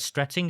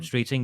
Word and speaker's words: Streeting: And that's why is it Wed Stretting I think is that you pronounce his name? Streeting. Yeah. announced I think yesterday uh